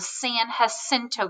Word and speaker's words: San Jacinto: At this point in time, he was traveling down the San Jacinto River. Now, I know it's spelled with a J, but we're talking about Spanish words again, and so that J makes the H sound.